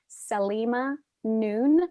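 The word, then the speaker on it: Saleema Noon: One resource that's really helpful about this is called Salima Noon. I'm going to spell it.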